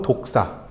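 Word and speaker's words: δόξα: 되는 것입니다이 영광이라는 단어는 헬라어로 독사 애의 독사 같 비슷한 그 발음입니다 독사 그리고 히브리어로 보드라는 단어입니다이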